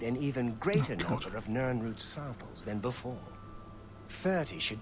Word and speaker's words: Nirnroot: I keep forgetting how it's pronounced, because I keep calling it Naarut. Nirnroot. Got to remember that.